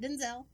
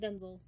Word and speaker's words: Denzel: the room Denzel Washington that is how you pronounce his name is not Denzel he won't correct you but that literally his name is pronounced Denzel we have like a whole conversation about it